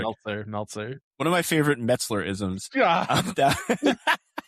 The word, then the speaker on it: Meltzer: Did I get it right? No. No? Meltzer. Nice. Okay, perfect. Meltzer.